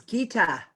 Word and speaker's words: Geeta: Oh, Lynn says it is Geeta. Geeta. I thought, because I heard Kate say that. So I'm like, oh, I have been saying her name wrong all this time.